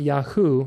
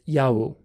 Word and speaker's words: Yahu: Again, Yahu, Yahu. Not Yahoo. It's hard to get out of that pronunciation because in English we have certain ways of saying things, but it's Yahu.